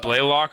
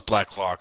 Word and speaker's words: Blacklock: Ross, Is it Blaylock or Blackhawk? Which one? Blackhawk down. Ross Blacklock, D tackle TCU. Oh, it's Blacklock.